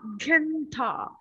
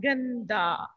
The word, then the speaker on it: गंदा: Gantha. जंदा No, ga. गंदा Ga, na, half, da. Ganda.